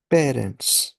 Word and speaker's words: parents: That is पारों only, pronounce it slightly differently. ऐसा कि हमने जब हम प्रोनाउंसिएशंस कर रहे थे तब हमने क्या पढ़ा था कि ए एन ओ एन ई एन कहीं भी आया था तो sound is ओ, सो पारों, एंड ऑफ